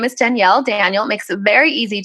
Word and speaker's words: Danielle: People are like, Daniel. I'm like, no, Danielle.